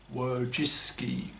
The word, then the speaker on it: Wojcicki: The paradigm case of this monoconscious bigotry by feminists is Susan Wojcicki, that's W-O-J-C-I-C-K-I, that's an unpronounceable Polish name for English speakers, pronounced Wojcicki, the Jewish-American CEO of